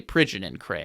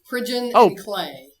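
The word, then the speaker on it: Pridgeon & Clay: I should say Pigeon and Cray. I think I mispronounced that. It's actually Clay. Pigeon and Clay.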